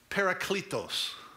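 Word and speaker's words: παράκλητος: the word helper there it's a word in the greek language that's pronounced paracletos now this is not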